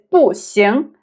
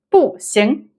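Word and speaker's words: 不行: Another example is 不行. 行 carries the second tone. 行. So it's 不行.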